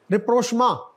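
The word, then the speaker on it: rapprochement: रिप्रोशमा, French है ये.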